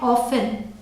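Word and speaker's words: often: next is ओ एफ टी ई एन इसे pronounce करते हैं ऑफेन इसका मतलब होता है प्रायः या फिर अक्सर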